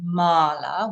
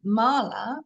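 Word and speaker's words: mālā: So actually, when we write mala without the line over it, to read that word with Sanskrit pronunciation, it would be mala. To read it as we all in fact do, mala, we have to have those lines over the top.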